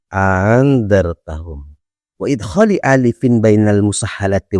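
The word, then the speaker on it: أأنذرتهم: Cara yang ketiga adalah wa tashiliha, yaitu dengan membaca tashil. Membaca tashil itu adalah meringankan bacaan. Jadi kalau hamzah itu seharusnya a, karena dibaca tashil menjadi a setengahnya. Cara bacanya adalah andartahum, andartahum.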